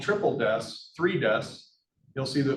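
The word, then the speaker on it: Triple DES: itself so it's called triple deaths three deaths you'll see the number three Des that the the professional way to pronounce that is triple deaths all right so if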